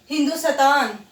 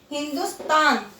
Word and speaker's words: हिंदुस्तान: जैसे ये यहाँ आधा आ गया तो इसको बच्चे बोलेंगे हिंदुस्तान, ऐसे बोलते हैं, तो ये रॉन्ग हो जाता है, तो इसको क्या बोलेंगे हम, हिंदुस्तान। यहाँ पे भी कई बच्चे थ लगाते हैं हिंदुस्तान, पर इसका उच्चारण क्या होगा, हिंदुस्तान।